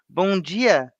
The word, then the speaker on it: Bom dia: The D has a G sound. All Bom right, dia. okay. Like Bom dia. Gino. Bom dia. Bom Bom dia. dia. Yeah. Bom dia.